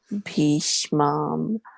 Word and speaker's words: bhīṣmam: ayaneṣu cha sarveṣu yathā-bhāgam avasthitāḥ bhīṣmam evābhirakṣantu bhavantaḥ sarva evahi. Yeah, so just be careful about the A with a bar and A with no bar, right? So it's a bhīṣmam, right? Bhīṣmam.